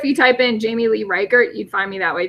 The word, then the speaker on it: Reichert: last name which is kind of hard to pronounce so it's re i CH e RT j 17 so it's reichert JS I'm again